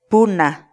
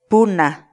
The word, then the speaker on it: puna: series videos where we teach you how to pronounce certain words in Quechua so our word of the day for today is pune pune pune in English the Quechua word funa means